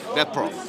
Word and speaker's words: DatProf: How do I pronounce DatProof? DatProf. DatProf. Yes.